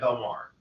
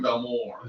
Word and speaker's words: Belmar: is different they call they pronounce this Belmar no they don't yeah they do you know yes I do I have been there